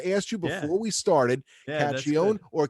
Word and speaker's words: Cacchione: you before we started caccione or cachione well the real way is but when we got to this country we stopped we stopped saying that all together we all say cashion you know for years